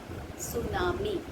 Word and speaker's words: tsunami: T is here, Tsunami, but here children, T is silent. So we leave T, and what do we pronounce as? We pronounce as tsunami.